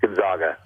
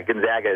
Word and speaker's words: Gonzaga: student oh Gonzaga I a lot of people go with Gonzaga but yeah Gonzaga is is is technically I supposed to say okay thank you every